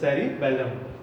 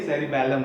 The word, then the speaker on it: cerebellum: This is the second part of brain, that is a cerebellum. ठीक है. Don't confuse between both, है ना, इनका जो प्रोनाउंसिएशन थोड़ा सा चेंज है. ये cerebrum है और ये cerebellum है.